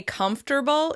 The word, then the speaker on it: comfortable: Have you noticed how we say "comfterble," even though the word is spelled comfortable?